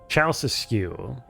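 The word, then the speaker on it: Ceaușescu: It's pronounced Ceausescu? Ceausescu.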